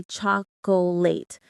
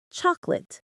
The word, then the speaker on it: chocolate: People often say cholate, but the correct one is chocolate. Just two syllables.